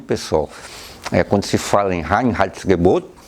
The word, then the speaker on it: Reinheitsgebot: Então, basicamente, pessoal, quando se fala em Reinheitsgebot, palavrinha aí bem complicada, né, da gente pronunciar, então não esqueçam, Reinheitsgebot, são três palavras, né, Rein, limpo, Heitz, eza, e Gebot, mandamento, certo?